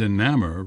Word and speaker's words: enamor: And enamor rhyme with hammer.